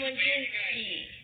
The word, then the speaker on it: Wojcicki: I don't think I pronounced that right. It's Susan Wojcicki.